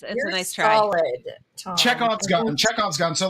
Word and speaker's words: Chekhov: And I said to Aaron, actually, like, I'm not going to pronounce this right, so go ahead and butcher me. But Chevarsky's gun. Chekhov's.